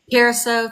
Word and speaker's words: Curaçao: Curacao, thank you.